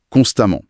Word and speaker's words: constamment: Constamment et prudemment se prononcent pareil à la fin.